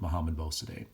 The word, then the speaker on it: Mohammad Mossadegh: I've heard it pronounced a bunch of different ways. I've always gone with Mohammad Mossadegh.